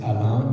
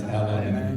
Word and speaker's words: Alain: So the real name is Alain, because it's a French name, but it's Alain.